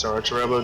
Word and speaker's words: Solatorobo: That's why I tried and pronounce it as Solatorobo, just because that's more of an accurate pronunciation.